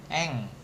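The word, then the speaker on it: 円: Eng. Nah, bacanya eng. Y-nya hilang eng gitu. Enggak ada cara baca lain. Kalau dia cuman satu cara bacanya eng doang.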